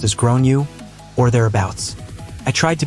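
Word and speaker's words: Gráinne: realized that the kid is called grain generally pronounced as grown you or thereabouts I tried to be very tactful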